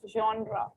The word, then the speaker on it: genre: Yes, it's spelled like this, but it's pronounced as genre.